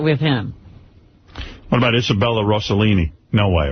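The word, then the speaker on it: Rossellini: What about Isabella Roselini? No way. Right. That's so easy. It doesn't matter. He'll He'll get one little syllable wrong. Rostellini. Yeah. Isabella Rostellini. Isabella Rouselini.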